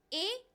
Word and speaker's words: heir: लेकिन इसमें as silent है, वो नहीं बोला जाएगा. इसको हम सिंपली बोलते हैं ए. ए, सिंपली ए. कैसे बोलोगे? ए. तो ये जब मेल वारिस होगा तो उसे एयर बोला जाता है, और जब